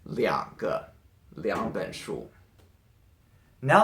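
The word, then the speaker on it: 两: to change it to this character and it's pronounced Lian so beyond good is two if you want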